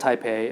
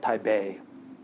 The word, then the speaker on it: Taipei: It's not called Taipei. It's called Taipei. The P should be pronounced like a B, I guess.